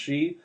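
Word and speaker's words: sidhe: fairies in this book, it's pronounced she.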